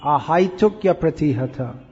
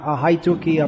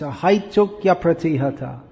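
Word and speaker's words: अहैतुक्यप्रतिहता: foreign no you're all mispronouncing it should be a high took your pretty hater not a high tu kia free coming before the vowel uh changes to your so it's a high tokya pratihata flowing like this try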